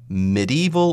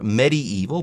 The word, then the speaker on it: medieval: or anything like that no medieval or medieval both pronunciations are okay here when we're talking about